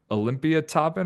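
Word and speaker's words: Olympiatoppen: We are going to talk all things about his journey from everything I mentioned to his time working for Olympia Toppen, I think is how you say it, the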